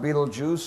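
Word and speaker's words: Betelgeuse: times as bright as our sun then there's Beetle Juice pronounced Beetle Juice spelled belese Beetle Juice gigantic star in the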